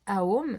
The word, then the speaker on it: Aum: Moi, j'aime bien le prononcer Aum, mais certains le prononcent Home, donc c'est vraiment au choix. Et il faut compter un temps pour le A, 2 temps pour le O et 3 temps pour le M.